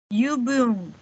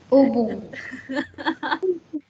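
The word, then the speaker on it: Übung: Yubung. Ya. Ubung. Tapi nggak jadi iubung juga ya, Y-nya nggak. Ubung. Beda ya U-nya. Tapi nggak jadi iubung juga ya. Ubung artinya latihan.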